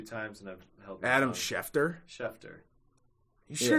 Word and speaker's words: Schefter: heard you say yeah i've heard you say chefner a few times and i've helped adam schefter you sure it's not scheffner yeah absolutely positive how do you spell it